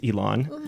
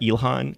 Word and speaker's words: Ilan: I will say my name is Ilan, not Ilhan, right? Sometimes people say get a little. H in there.